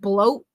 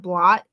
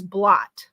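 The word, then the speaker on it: blót: any of it correctly he said bloat instead of blot the the sacrifices they do where they sacrifice like me and alcohol to gods that is blot not bloat he's not pronouncing any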